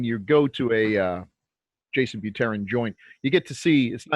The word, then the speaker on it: Buterin: I said I pronounced your last name wrong. It's Buterin.